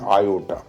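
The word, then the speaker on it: iota: इट is denoted by small I. It's pronunciation is आयोटा।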